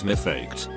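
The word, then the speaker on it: מפקד: Now what Americans call drill instructors or drill sergeants in Hebrew is mifaked, which is pronounced very similarly to my duckhead.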